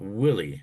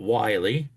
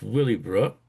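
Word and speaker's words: Willey Brook: Now, this is pronounced Willie, not WY, it's Willy Brook.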